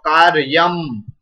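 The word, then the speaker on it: कार्यम्: So you should pronounce this refa before this ya. Kar ya, kar ya, and then half ma is also there. So kar yam, okay, ka plus a ka, then ra half, and ya plus a ya, so that's why ya and ma halan, that is ma half. So, karyam. Okay, all of you pronounce karyam. Karyam.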